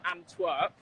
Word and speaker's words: Antwerp: So I am currently in Antwerp. Oh, Antwerp. Okay, you were mispronouncing it. That's why. Okay, I'm so sorry. How do you say? Antwerp. Antwerp. Antwerp. It's ANTWERP.